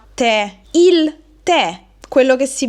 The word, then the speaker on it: tè: Se invece metto l'accento, che in questo caso è grave, dobbiamo aprire il suono della e che diventa e. Quindi, con l'accento grafico grave questo monosillabo diventa tè, il tè, quello che si beve, quindi è un sostantivo maschile singolare.